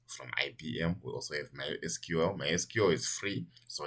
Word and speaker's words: MySQL: pronunciation of this name it's mysql some people say my secret so if you hear people say i'm using mexico mexico they literally mean this particular spelling my sql uh it's actually free